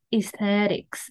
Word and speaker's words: aesthetics: Chúng ta đừng phát âm là aesthetics hay là aesthetics nhé. Đây là aesthetics, đúng không?